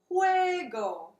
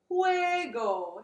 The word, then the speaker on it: juego: pronounced kind of like a soft H in English so try there with me say juego one more time ready juego nice job muy bien